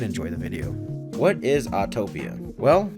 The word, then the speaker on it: Autopia: words or Blended words mixing automobile with Utopia it is pronounced autopia and not autotopia or a Utopia or